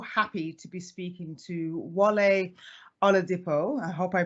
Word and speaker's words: Wale Oladipo: I am so happy to be speaking to wale on a depo I hope I pronounced your name correctly yes good job I